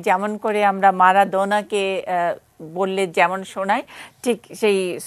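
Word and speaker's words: Maradona: আর্জেন্টাইনদের জিজ্ঞেস করেছিলাম এবং তারা কিন্তু পরিষ্কার উচ্চারণটা করে দিয়েগো আর্মান্দো মারাদোনা, একদম খুব সুর করে কিন্তু বলে, ওইখানে কিন্তু মারাডোনা না, ওরা কিন্তু খুব সুন্দর উচ্চারণ করে দিয়েগো আর্মান্দো মারাদোনা, একদম পরিষ্কার এটা, যে যার জন্য আমি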